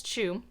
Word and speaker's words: Zhu: but I think it's Chu. It's Z-H-U, and I think it's supposed to be pronounced C-H-O-O approximately, but that is our